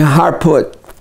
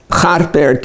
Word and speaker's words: Harput: And here we see a picture of some of the relief workers on their way to Harput, Harpert in Armenia. Harpert pronunciation sometimes come out as Harput or Harput.